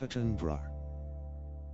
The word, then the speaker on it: Attenborough: In the UK, borough is bruh everywhere.